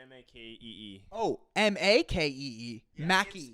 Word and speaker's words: Makee: It's MAKEE. Makee. Oh, Makee. Mackie. It's the word make with an E on the end.